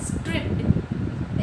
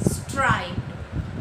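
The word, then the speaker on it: striped: अब कि कोई कोई लोग इस चीज़ को क्या प्रोनंस करते हैं गलत तरीके से, वो है स्ट्रिप्ड. इट्स नॉट स्ट्रिप्ड, इट्स स्ट्राइप्ड. Okay, इसका मतलब होता है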